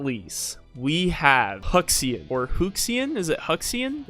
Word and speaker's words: Huxian: Last but not least, we have Hushin, or Huxian. Is it Huxian? Is it Huxian or Huxian? It's proper Chinese pronunciation. Hushin. Oh, it's Hushin.